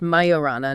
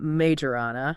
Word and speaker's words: Majorana: majorana one chip Mo it's pronounced mayorana not majorana ah good catch Moor